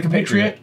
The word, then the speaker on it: compatriot: yeah that's right the compatriot there's like an m in there not C- patriate compatriot compatriot compatriot yeah yeah they're